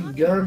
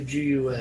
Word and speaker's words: GUN: Does he say gun or does he say G-U-N? What are you saying? Everyone says gun. It's like NASA. It's an acronym, but it's pronounceable.